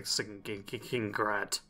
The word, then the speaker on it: Skingrad: Alright, and why was I actually sent to Skingrad? That's how you actually pronounce it for anyone wondering.